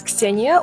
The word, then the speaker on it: Ksenia: I'm honestly not sure how else people might pronounce it, but it is Ksenia, or for short, Ksyusha.